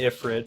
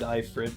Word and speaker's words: Ifrit: I think when I was a kid I said Ifrit, and since it's like supposed to be from Ifrit, Ifrit is probably more accurate. But it's not spelled that way, so I say Ifrit.